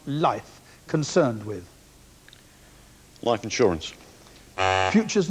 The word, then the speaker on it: LIFFE: In the world of finance, what is the body abbreviated as LIFFE, pronounced life, concerned with?